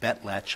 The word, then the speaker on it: Betlach: Versus Thomas J. Betlach, I believe is the pronunciation. Betlach. Betlach? Betlach, Your Honor.